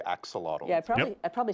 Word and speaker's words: axolotl: We're all going to learn how to say axolotl. Yeah, I probably said it wrong, but yeah. No, you said it right. It's axolotl.